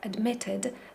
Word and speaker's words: admitted: admitted Dlaczego Dlatego że słowo admitted admitted akcent pada na my admitted admitted i tę